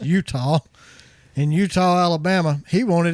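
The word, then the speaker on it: Etowah: particular Utah Alabama it's spelled etawah but it's pronounced Utah in Utah Alabama he wanted his free weey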